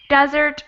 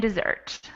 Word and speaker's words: desert: you pronounce them well we have desert and dessert it's like uh before the stress uh syllables english in the first level and the second one is in the second